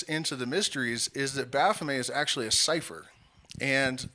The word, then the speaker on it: Baphomet: lot of people say Baphomet, but the T in French at the end of a word is silent, so it's Baphomet.